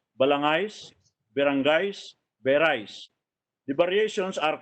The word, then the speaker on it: balangay: it as balanghay, but H is silent because they didn't have this diacritical marks at the time. When H follows a G, the G should be pronounced as ga, not as ja.